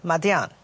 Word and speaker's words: Midian: even today is called Midian. Yes, absolutely. Madian. Yeah. The Arabs of the region absolutely call it to this day, Madian. Yeah. It's just how they pronounce it.